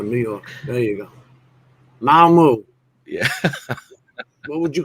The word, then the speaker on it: Mamu: Mamu Treetop Walk. Mamu Tropical What's it called? Skywalk. Oh, he just butchered the shit out of that name. MAMU. Mamu. Like Shamu without the sham.